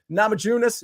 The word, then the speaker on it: Namajunas: uh oh pronunciations Rose namajunas nunas yeah soft J soft J Rose namun money line